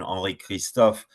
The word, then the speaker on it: Henri Christophe: I've only heard the French version, Henri Cristophe. So the only thing I would say is I would be careful in the future, and probably use the French pronunciation.